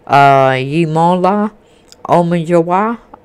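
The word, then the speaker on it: Yemola Omojuwa: Yimola Omanjawa.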